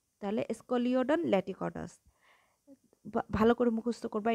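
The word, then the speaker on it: Scoliodon: যেমন আমি বলে দিচ্ছি, এস ক লিও ডন ল্যাটিকডাস, তাহলে স্কলিওডন ল্যাটিকডাস ভালো করে মুখস্থ করবা।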